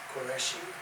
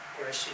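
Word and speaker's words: Qureshi: Koreshi Koreshi is spelled as Q U R E S H I and 61 Hollywood Road California New Jersey.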